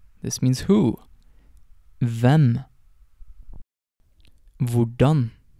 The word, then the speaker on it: hvordan: Before getting on to the words themselves, I just want to note that most of these question words start with HV, and the H in these words is silent.